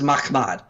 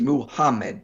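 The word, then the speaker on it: מחמד: This is Mahmad. You don't add an additional syllable in there to get Muhammad. Notice Mahmad is 2, Muhammad is 3.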